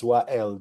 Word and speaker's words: Wael: Again, my name is Wael. It's spelled W-A-E-L. I like to always tell people you can think of it as the two initial.